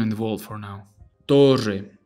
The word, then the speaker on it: torre: The double R has a few different pronunciations depending on the country and even the region, really. To play it safe, however, just roll a longer R than usual. Instead of torre, it will be torre, torre, rrr, torre.